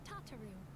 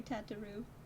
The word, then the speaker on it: Tataru: also introduce you to tataru o'clock she ensures that everything runs smoothly wait it's tataru oh tataru i've been saying your name wrong for 10 years tataru sorry tataroo please to make your acquaintance